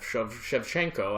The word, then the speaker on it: Shevchenko: unheard of shenko I hope I'm I'm not butchering that shevchenko I believe is how you say it and H yeah I